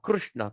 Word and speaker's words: Krishna: But the real thing is Sanskrit, it says rrr. So we're going to rrr. So Krishna, Krishna. So this is the word R is unique in Sanskrit that you can't find it in any other languages.